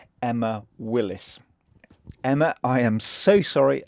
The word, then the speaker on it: Emma Willis: years I spoken to friends and family about Emma Wills only to realize on my visit that I've been pronouncing her name wrong the whole time some